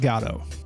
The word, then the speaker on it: Godot: Captain Picard and Gandalf I'm Gonna Roll with gato but much like the Samuel Beckett play that